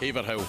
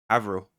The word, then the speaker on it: Haverhill: Haverhill. Try again. Haffordell. One more time. How would I pronounce it?